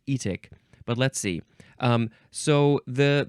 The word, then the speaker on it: etic: It's the suffix etic, and I think you would probably pronounce it etic, but let's see.